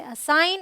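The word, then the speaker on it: assign: Alright, rule number 2 says अगर जी के बाद एन आए तो जी साइलेंट होगा।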